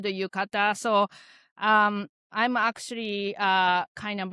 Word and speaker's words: yukata: so yeah, this is one of my favorite yukata wardrobe. And I appreciate that too, because every time I see, help me pronounce it again. Tomoko. No, the outfit. Yukata.